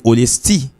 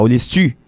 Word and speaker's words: Olesty: C'est pas Olestu. Parce qu'on dit Y pour dire Olestu. Non. Y, c'est l'aile pour col, et puis Olesti. Le l'accompagne avec l'autre lettre, et puis il prononce comme I.